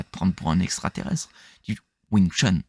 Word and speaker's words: Wing Chun: Tu prononces toujours comme ça de n'importe quelle lignée que tu viens en dessous hipman Wing Chun, c'est comme ça que tu le prononces. Donc Wing, c'est le c'est le 6e ton langue cantonaise cantonaise et c'est le ton le plus bas, hein.